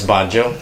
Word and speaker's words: Banjo: this hello good afternoon my name is Banjo like the banjo the guitar but I pronounce it the banjo um on behalf